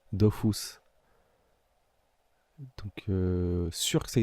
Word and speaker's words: Dofus: Dofus c'est comment dire ça se prononce à la japonaise Dofus donc sûr que ça